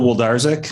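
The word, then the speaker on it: Wlodarczyk: too sir my name my name is woldarzak i'm also on the baseball board i can spell it w-l-o-d a-r-c-z-y-k that's it that's it there's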